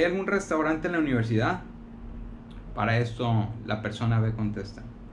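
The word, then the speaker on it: 八: pronuncia como sí sí el 8 se pronuncia como para el 9 se pronuncia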